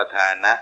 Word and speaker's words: ธานะ: ครับ ความ ขาด ตอน ท่าน เรียก ว่า ธานะ ต้อง อ่าน ว่า ธานะ นะ ครับ ไม่ ใช่ ทา การ ให้ ความ ปราศจาก